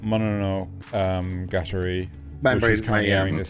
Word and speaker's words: Mononogatari: It's Mononogatari.